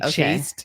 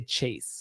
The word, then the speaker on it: chaste: I didn't know if it was but it's spelled like chaste. And then you're not supposed to say chaste. You're supposed to say chase.